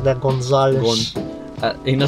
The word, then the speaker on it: Gonzales: So pronounce it like that, Gonzales.